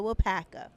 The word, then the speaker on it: Waupaca: And so once I watched the film in the preview, I was like, that's how you say it, Waupaca.